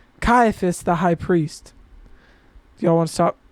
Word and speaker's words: Caiaphas: Annis then sent him bound to Ciphus. How did you say it? Kaiapus. Caiaphas. Ka I don't Yeah. I don't have a natural want to say a K. Caiaphas, the high priest.